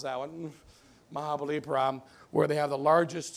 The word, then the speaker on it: Mahabalipuram: It's a Mahabalipuram, you can pronounce that one, Mahabalipuram, where they have the largest stone carving in the world.